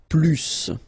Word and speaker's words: plus: I will be um there is a strange thing in French language with this plus okay because in some cases you will have to pronounce the final s and in other cases you won't so what I would